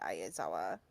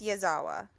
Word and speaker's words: Yazawa: Mad respect to Ayazawa. Ayazawa. Ayazawa. Ayazawa. Aizawa. It's Yazawa. I looked it Yeah. up because I always say it Oh, wrong. I Yeah, do too. I always say it wrong.